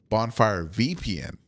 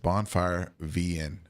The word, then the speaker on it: Bonfire VN: A lot of people in videos that site him, they mispronounce the name and say BonfireVPN. Negative. Just Bonfire VN.